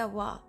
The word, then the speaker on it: は: It's written as ha, but it's pronounced W when it's particle.